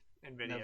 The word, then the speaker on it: Nvidia: But if it is something, then there was the Nvidia. That's how it's said, right? Nvidia.